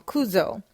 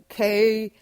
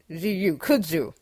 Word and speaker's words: kudzu: Now, one of my old colleagues, who's from the South, used to speak on Kuzo. And if you're not familiar, you can Google it, Kudzu. Kudzu. I'm sorry, I was saying it wrong.